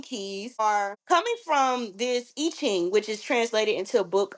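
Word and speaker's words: I Ching: These gates correlate to the Chinese IQing system, excuse me. So it's pronounced Iching.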